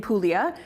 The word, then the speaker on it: Puglia: of Italy pulia and it's spelled pug L A but said pulia without the G or aulia actually in